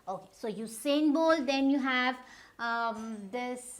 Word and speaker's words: Usain: It's not Usain Bolt, it's U. So this U has to be pronounced in this manner only. Usain Bolt, right? Okay, so Usain Bolt.